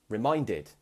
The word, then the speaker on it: reminded: And then the next word, we also have reminded. I reminded you of this yesterday. Reminded. So once again, ends in ed, but we say it differently.